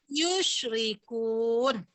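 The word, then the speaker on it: يُشْرِكُونَ: La ilaha illa huwa subhanahu amma yu'rikun. Sadaqallah. Salah bacanya baru dah. Iya. Amma yusyrikun.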